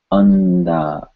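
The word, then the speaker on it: अंदाज़: The N sound is pronounced at the same place, the tip of the tongue touching the back of the front teeth. Andaz, andaz, andaz.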